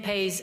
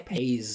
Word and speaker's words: pace: So it sounds like she's saying like p a ys, like pays, like like I don't know, crime pays or whatever. But she's trying to say pace.